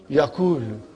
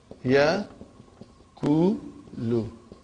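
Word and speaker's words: يَقُولُ: If I put a sukoon on waw and dhamma on kaf, how will you pronounce it now? Yakulu. What will you say? Yakulu. See, this is how yakulu is done.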